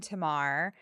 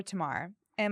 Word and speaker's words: Tamar: It's common, uh, commonly a Tamara, Tamara, Tamara, but it's okay.